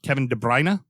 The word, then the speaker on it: Kevin De Bruyne: it's like the the where we think it's an o it's an ah so it's devin kevin de bruyne okay that's how it's